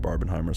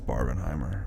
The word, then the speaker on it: Barbenheimer: figure that out again they want to recreate barberheimer so badly I know I know I said it right for you you win yeah it's Barb and Heimer okay okay all right are you happy now